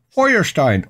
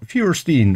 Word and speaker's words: Feuerstein: flintstone in germany was fred feuerstein or fierstein however you want to pronounce it brett flintstone so every